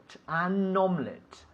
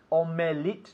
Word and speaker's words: omelette: last night okay omelette omelette omelette omelette no omelette two syllables dos syllabus okay omelette so yes I